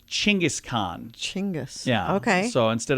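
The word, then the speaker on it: Genghis Khan: saying wrong so uh how about gangas Khan a lot of people say it with a G like great but the Mongols actually would have called him like chingis Khan chingus yeah okay so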